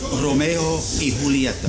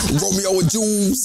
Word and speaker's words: Romeo y Julieta: I did say it. Romeo y Julieta. That's how you say it.